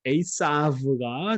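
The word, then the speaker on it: עשו: 자, 이거 에서라고 우리가 발음하지만 에이사브가 정확한 발음이죠.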